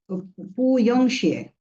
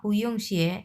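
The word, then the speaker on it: 不用谢: পু ইয়ং শিয়ে। সো পাশাপাশি তো বসছে। সো তখন হচ্ছে আপনি উচ্চারণ যখন করবেন তখন আপনার এই পুটা 2 নাম্বার টন হয়ে যাবে।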